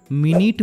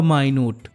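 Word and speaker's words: minute: অর্থ হলো বন্ধ করা নেক্সট ওয়ার্ড মিনিট বা মাইনুট এম আই এন ইউ টি ই এটার উচ্চারণ যখন মিনিট তখন এটার অর্থ মিনিট অর্থাৎ 60 second R এম আই এন ইউ টি ই এটার উচ্চারণ যখন মাইনুট তখন এটার অর্থ ক্ষুদ্র বা খুব ছোট ফর এক্সাম্পল দা মিটিং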